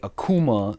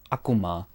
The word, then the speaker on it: Akuma: But then again, most people say Akuma when it's actually pronounced Akuma.